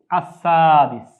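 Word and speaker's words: السادس: হচ্ছে আসসাদিস এটি আসসাদিস আমরা এখানে ল যদিও লিখেছি কিন্তু এটিও উচ্চারণ হবে আসসাদিস আসসাদিস অর্থ ষষ্ঠ তারপর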